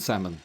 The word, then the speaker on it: salmon: And salmon.